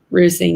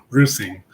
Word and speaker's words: Reusing: All right, welcome to another episode of Perspective, and I am here with Kendall Rusing. That's how you pronounce it, right? Roosing, yeah. Rusing.